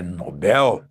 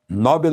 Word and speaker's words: Nobel: E atenção à pronúncia lá na Suécia é Nobel. Nobel é uma pronúncia da língua inglesa, mas lá na Suécia a língua é o sueco, né?